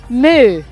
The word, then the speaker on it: MØ: thank you very much did I pronounce it correctly you really did I did yeah I mean you would say Moo yeah that was what you said is that right yeah I got it right actually crazy because no